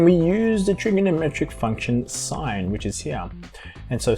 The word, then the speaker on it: sine: now why is this spout as sin but pronounced sine well to answer that question this is actually